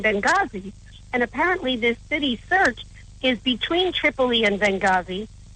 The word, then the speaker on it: Sirte: Right, and I guess it's referred to in your article as a fallback caliphate city, this Sirte. I don't know if I'm pronouncing that properly. Sirte. It's actually just Sirte.